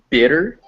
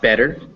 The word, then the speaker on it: bitter: some some pointers uh the word uh bi ttr bitter is bitter not better bitter bitter bigger and bigger yeah and it contrasts with better bb better yes and also uh when